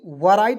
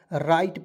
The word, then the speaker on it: write: उसके बाद WRIT, वराइट बहुत लोग पढ़ लेते हैं दोस्तों, वराइट नहीं पढ़ना है, W को इसमें साइलेंट रखते हैं और RITE को राइट पढ़ते हैं।